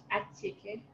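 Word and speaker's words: attiéké: Acheke.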